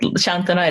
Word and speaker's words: Santona: That's without an H, although you pronounce it Santona.